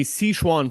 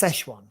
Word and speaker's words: Sichuan: It's in the Sichuan province in the southwest of China, by the way. I believe that's pronounced Szechuan.